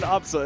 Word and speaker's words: Absa: It's funny because her name is pronounced Absa anyways.